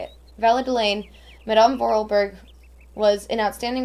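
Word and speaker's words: Valadilène: marks the end of an era in valid valladoline valadelaine that's how you say it valadelaine madame vorelberg was an outstanding woman who persided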